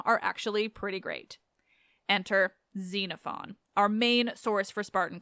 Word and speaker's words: Xenophon: I'll even tell you that technically it should be pronounced more like Xenophon, but I won't say that because it's weird on my English tongue as much as I do really like it.